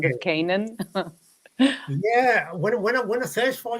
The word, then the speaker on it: Canaan: Well, I mean, it's Canaan. It's Canaan. Canaan. In Lebanese, you would say Lydia Canaan, but in English, Lydia Canaan. it's Canaan, like the land Yeah. of Canaan.